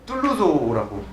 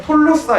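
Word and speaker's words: Tolosa: 형제어라고 볼 수 있는데 그런 그 툴루즈는 툴루조라고 부릅니다. 근데 이거를 보통은 읽으면 그냥 톨로사 이렇게 읽지 않을까 뭐 이렇게 생각하는데 이걸 툴루조라고 읽기 때문에 이게 불어도 아니고 라틴어도 아닌 독특한 특징들이 있습니다.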